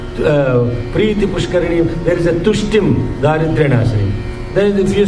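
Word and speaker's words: तुष्टिं: The Lakshmi Ashtotram also, there is a Preeti Pushkarini, there is a Tushtim Daridryanashini. Then if you say Dushtim Daridryanashini, Lakshmi Devi you are calling Dushti. So Tushtim Daridryanashini.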